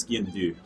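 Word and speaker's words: sgian-dubh: it is pronounced the skin to do right in dude yeah basically the B and the H are silent in do so just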